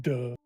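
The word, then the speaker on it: Dugg: The second G is silent. They're both solid, actually. It's just duh.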